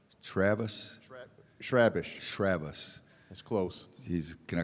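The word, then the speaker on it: Chrabascz: Pronounce his last name again, because I've heard 14 different ways. Andrew Schrabish. Travis? Schrabish.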